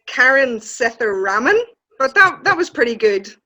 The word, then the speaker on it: Sethuraman: So it's Karen Sethuraman. It's Karen Sethuraman, but that was pretty good, Joe.